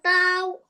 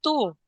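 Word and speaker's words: تَوْ: Ta wow zabar tau tu. No, it's not two. Tau.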